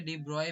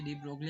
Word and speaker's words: de Broglie: देखो जो इसे डीब्रॉय भी बोलते हैं। वैसे डीब्रोगली हम ऐसे बोल रहे हैं बट इसका करेक्ट नाम ये डिब्रॉय होता है।